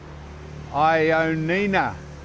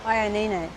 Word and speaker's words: Ioannina: Well, this is the entrance to the famous Ioannina Castle and Fortress.